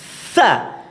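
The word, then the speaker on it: ث: Maka tekan dulu dan tampakkan desisnya. Sa. Itu nampak dulu ya. Baru diucapkan. Sasisubas. Ya. Kesalahan ketika mengucapkan sa, biasanya lidahnya keluar dan digigit. Sa. Kalau digigit sa itu kurang tepat.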